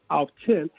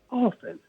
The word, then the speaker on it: often: the word o-f-t-n and it's not pronounced off 10 it's just pronounced often no that's absolutely right